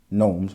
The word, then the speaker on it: gnome: And why they have the G if it's a silent G? Like, this is what English does. It's like, it's got G, gnomes, but we just say gnome.